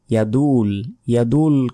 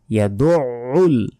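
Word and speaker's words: يَدُعُّ: লাযী ইয়াদউল আমরা অনেকে বলি ইয়াদুল কিন্তু এখানে নেই। ইয়াদউল আইনের উচ্চারণ গলার ভেতর থেকে উচ্চারিত হবে, একটু চাপ দিয়ে উচ্চারণ করবেন তাহলে উচ্চারণ হবে।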